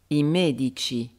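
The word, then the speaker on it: medico: ou j c'est-à-dire ci ou GI par exemple il met du corps le médecin il met du corps il met dico les médecins immédichi on entend très bien que l'accentuation est sur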